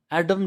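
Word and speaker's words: Adam: and your father एडमम एडमम जो हम हजरत आदम कहते हैं उसे इंग्लिश में एडमम के साथ प्रोनाउंस किया जाता है तो ए लोगों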